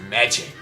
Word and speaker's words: Magi: a scorched wasteland, and magic simply ceased to exist. I've heard it is actually pronounced Magi, so that's what I'm going to call it.